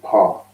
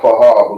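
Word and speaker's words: פה: But it's not pronounced paha because the pa and the Mm-hmm. ha are together, so it's just pa.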